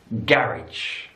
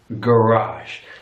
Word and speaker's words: garage: defense American English defence in British English garage garage stress on the first syllable garbage American English garage garage so your stress is on the last syllable garage garage garage another